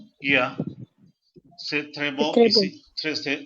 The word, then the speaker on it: C'est: Say S-A-Y. Same sound you have to use here. Same pronunciation for say.